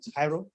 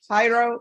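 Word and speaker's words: Jairo: Court is calling nightm 713 626 state of Texas versus how do you pronounce his first name? Hyro. Hyro.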